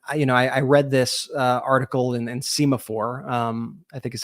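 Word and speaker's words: Semafor: And I read this article in Semaphore. I think is how you say that site. And it was Semaphore.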